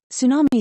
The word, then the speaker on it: tsunami: over increasing demand of energy world over four Tsunami Tsunami is pronounced as tsunami it is a Japanese word